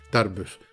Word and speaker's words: Tarbes: Se escribe T-A-R, B larga E-S, Tarbus.